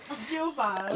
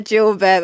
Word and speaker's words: jilbab: Jilbab. Not a kebab. A jilbab.